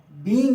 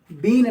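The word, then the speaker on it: being: बी ई आई एनजी जिसको बींग कहते हैं बींग है बीन ना ध्यान रखिएगा बींग जो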